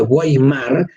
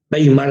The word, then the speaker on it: Weimar: rey marras con w constitución de ueimar weimar en la pronunciación correcta se proclama por primera